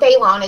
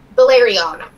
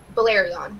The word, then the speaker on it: Balerion: And it's not Balon, it's, how do you pronounce that dragon? Balerion. Balerion.